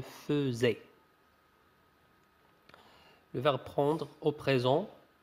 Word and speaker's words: faisais: Attention, ça se prononce je faisais.